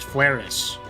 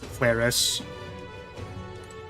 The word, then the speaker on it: Flaris: It is pronounced Flaris. Kind of with an IS sound. Flaris. Kind of similar to how you'd pronounce aqueous.